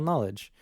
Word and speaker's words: knowledge: the n make because the k is silent and then it's yeah